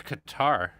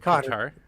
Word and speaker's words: Qatar: So during the Iraq War, a lot of journalists stationed in Qatar, or Qatar, if you want to pronounce it that way, I'd call it Qatar.